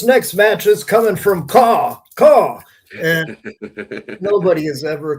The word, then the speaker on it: KAW: Yeah, Caw. Yeah, that's how you pronounce it.